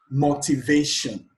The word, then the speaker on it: motivation: That means the syllable before the shun is stressed. Motivation. The stress here is on the they.